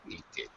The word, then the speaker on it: hated: The regular verb ends with AT. So, hated. Hated. Hated. 2 syllables.